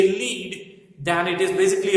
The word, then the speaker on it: lead: रहता है, उसको हम लीडर बोलते हैं, तो वो लीड के ऊपर से बना हुआ वर्ड है। But when we talk about this mineral then it should be pronounced as लेड।